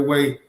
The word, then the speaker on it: Hue: thank you so much it's pronounced way matthew thank you so much i think so this would be way city thank you so much